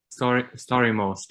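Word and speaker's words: Stari Most: He said, of all the places I visited, I think the starry most, is it most or most? Starry most, yeah, you got it right.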